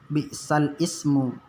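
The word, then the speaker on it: بئس الاسم: Jadi nanti apabila bertemu dengan naqal seperti yang ada di sini, bacanya jangan nanti bi'sal ismu. Kalau tulisannya memang bi'sal ismu, tapi cara membacanya karena dia naqal, kita baca nanti bi'salismu.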